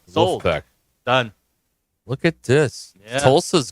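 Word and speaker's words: Wolfpack: have to pronounce it you have to pronounce it as they do in Raleigh it's not the wolf pack the L is gone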